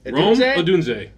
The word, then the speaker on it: Odunze: uh number three Rome adun said it right adun look at me I'm the